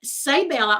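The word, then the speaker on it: Seibella: This is a Saybella. All these products that I'm going to share right now are Saybella. It's pronounced say like S-A-Y, but it's spelled S-E-I-B-E-L-L-A.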